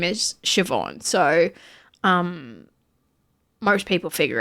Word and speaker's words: Siobhan: Shut the Yeah, it it looks like Seuban when it's spelled.